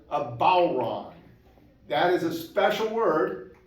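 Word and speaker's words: bodhrán: And so please, if you see the word B-O-D-H-R-A-N, never say, Bodron, that makes people like us shiver. And instead, always say, bowron.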